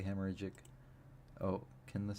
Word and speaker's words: hemorrhagic: I think it's hemorrhagic, because it's hemorrhage with an IC, and then the pronunciation key says hemorrhagic, so it's hemorrhagic. Hemorrhagic. Hemorrhagic. You enunciate the hemorrhagic.